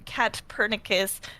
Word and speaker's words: Katpurnicus: And then I came up with the PUR instead of POR to be like, oh, purr like a cat. Oh, Yes. and so thus I became KATPURNICUS, which a lot of